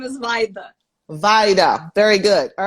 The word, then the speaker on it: Vaida: Secondly, I want to make sure that I pronounce the young lady's name correctly. So, I need a tutorial. Okay, my name is Vaida.